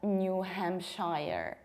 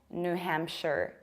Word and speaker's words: New Hampshire: It's not New Hampshire. We pronounce it like New Hampshire. Why? The first rule is that in American accent, we don't pronounce things like new, or rather not that often.